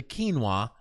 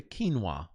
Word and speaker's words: quinoa: She peed in the quinoa at a grocery store called Manduk Food Op, whatever. She peed in the what? She peed in the quinoa. You know, that's how you pronounce Q-U-I. Oh, N-O-A, yeah.